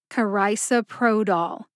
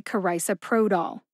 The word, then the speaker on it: carisoprodol: that they're both emphasized however Pro gets the most emphasis see if you can hear it when I say it slowly karisoprodol carisoprodol how did I know how to say karisa Pro doll I found the pronunciation